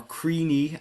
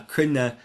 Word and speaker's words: Cruithne: You may remember from a previous video the asteroid Cruithne uh or Creenee as some people pronounce it. Uh Cruithne it would be the Irish pronunciation. It does come from the name of a Celtic tribe.